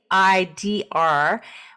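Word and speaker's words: seiðr: So getting back to Seidr, it's pronounced I see it Seidr, which is a form of Norse shamanism where there's a seer and there's a certain structure.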